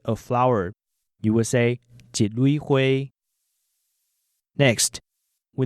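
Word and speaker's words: 三: We started with the number 1, which is pronounced jit. For example, if you want to say a flower, you will say jit lui hui.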